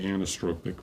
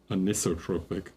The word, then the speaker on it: anisotropic: I say anastropic, but it's anotropic.